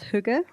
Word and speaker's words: hygge: happy people, and you have the concept of hygge, right? Hygge, did I pronounce that right?